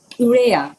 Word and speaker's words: urea: Uh, urea. Yeah, it's it's called urea. So, uh, it's spelled U as in uh U-turn, uh, R as in Richard, E as in England, A as in apple, ura.